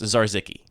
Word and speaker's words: Zarzicki: According to the internet, it's pronounced Zarzicki.